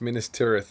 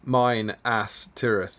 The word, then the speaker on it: Minas Tirith: James Wilson, it's a bit like the pronunciation, the Bakshi animation, where they pronounce Minas Tirith as, oh god, it's starting, here it goes, as mine ass Tirith, and for some reason Saruman was yeah, the Saruman as Araman is hilarious.